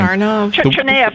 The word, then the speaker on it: Tsarnaev: And the kid Tsarnaev, I never know how to pronounce his name. Tsarnaev, I say it. Yeah. Thank you.